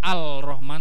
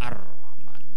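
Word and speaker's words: الرحمن: Kan tulisannya ada lamnya toh, tapi nggak dibaca Al-Rahman tapi Ar-Rahman, melebur.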